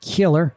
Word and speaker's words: Kjeller: All right, so here's where we took off from at Kjeller. And I think those J's are pronounced kind of like, think of like fjord, almost like a Y sound in English.